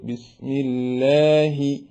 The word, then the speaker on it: بسم الله: വരിക അത് ചെയ്യാൻ പാടില്ല ബിസ്മില്ലാഹി റഹ്മാനി മലയാളം പോലെ വലിയ ഹവോട് കൂടെയും പറയാതെ നേർപ്പിച്ച് ബിസ്മില്ലാഹി ഇങ്ങനെ പറയേണ്ടതാണ് അതേപോലെ തന്നെ ലാം ലാമിന്റെ